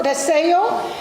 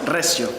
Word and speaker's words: Recio: We're going to meet Recio. He and his brother, Andres, I'm sorry, I pronounced it wrong. Yeah, no, but No, how do you pronounce it? Recio.